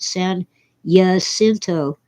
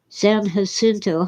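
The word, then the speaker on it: San Jacinto: I'm sick and tired of people calling it San Yasinto. It's Spanish and the J in Spanish is hot, not Yoda. San Hasinto.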